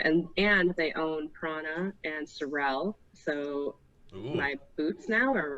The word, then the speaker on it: Sorel: And they own Prana and Sorel, so my boots now are rocking. Okay, time out. Is that the correct pronunciation? Sorel? Sorel? Sorel. I always thought it was Sorrel. It's not Sorrel.